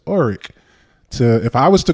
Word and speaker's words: Orrick: If someone's to say my name, and even in elementary, my name is Orrick, but some people pronounce it Orrick. And so it's like, no, my name ain't Orrick. My name is Orrick.